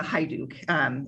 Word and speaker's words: Hajduk: Yes, you said it the way most people do, but it's Hajduk is the correct pronunciation.